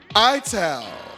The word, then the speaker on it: ital: It Ital pronounced ital is a way of cooking synonymous with Rastafari using ingredients from the earth grown naturally.